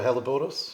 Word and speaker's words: Helleborus: Also, I just wanted to say, this painting up here, I'm no Alan Titmarsh, but I think it's called the Helleborus. Yes. Is that the right pronunciation?